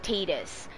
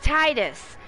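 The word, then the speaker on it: Tidus: just must protest that in Final Fantasy 10 I just cannot deal with tetus I can't that is Titus you can't tell me that's ttus no no no I can't do it I'm sorry I'm sorry it can't be tetus it can't it sounds too much like Tater all right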